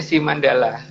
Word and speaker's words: Cimandala: Jadi itu bacanya bukan C sih sebenarnya, C. Karena orang Jawa itu biasanya kalau ngomong C itu jadi S. Contohnya kalau zaman orang tua saya gitu ngomong susu coklat itu pasti ngomongnya susu coklat. Iya. Maka kalau Cimandala itu pasti bacanya si Mandala.